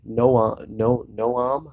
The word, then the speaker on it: Noam: angle like Noam Chomsky, Noam, I think is how you actually say his name.